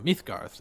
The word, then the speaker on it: Midgard: be our world so mythgarth is how it'd be pronounce an Old Norse but um oh that's